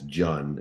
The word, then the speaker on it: Jun: One of the questions as you starred on uh one of our shows uh as Jun, not June by the way, I'm just uh displaying all of my great ignorance in pronunciation is the king of name butchering.